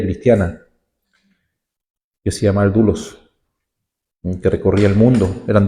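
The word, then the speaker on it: doulos: esclavo en griego es la palabra dulos se escribe d o u l o s repito d o u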